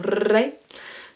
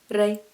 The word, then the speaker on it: re: Can you roll your R's on re? Mi, re, do.